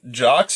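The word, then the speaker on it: Jox: And Jocks is spelled J-O-X, which I feel like is Robot Jocks.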